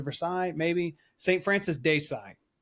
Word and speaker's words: Sales: Francis de Sales. It's spelled sales, but I think it's pronounced "sai" because it's French.